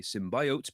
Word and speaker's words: Symbiote: It's pronounced Symbiote. Researchers have come across a stealthy Linux backdoor that uses sophisticated techniques to hide itself on compromised servers and steal credentials. Dubbed Symbiote, or maybe Symbiote, because it injects itself